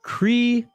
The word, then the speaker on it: Kryklya: How do you pronounce his last name? Kryklya.